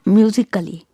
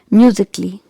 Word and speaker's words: musically: next word is musically it's not musically here also letter a is silent so pronounce it like musically musically okay next word